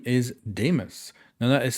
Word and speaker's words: Deimos: member of rainbow six and his name is Demus now that is spelled d-e-i-m-o-s and I do not believe there's